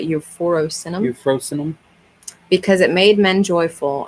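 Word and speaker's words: euphrosynum: How do you say that word? Almost like euphoria, but euphorosinum.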